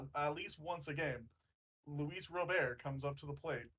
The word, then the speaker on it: Robert: in interviews he says my name is Luis robber no I know but people keep calling how